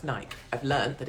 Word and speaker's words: Nike: moment i'm in nike i don't go in nike i thought it was always pronounced nike i've learned that it's called nike and i'm